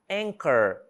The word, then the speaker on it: anchor: né palavrinha a a o h também não é pronunciado anchor também não é pronunciado e architect também não